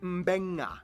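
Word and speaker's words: Beqa: makes the nd sound, B makes the mb sound. Both Q and G make the ng sound. Therefore, the town of Nadi is actually pronounced Nandi. And this word is pronounced mbenga.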